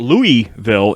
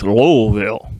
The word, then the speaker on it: Louisville: was very adamant that it's not louisville it's lowellville a little veil i'll